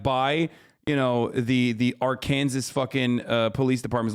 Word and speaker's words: Arkansas: Don't say it like that. No, I will never say it the incorrect way. It's Arkansas.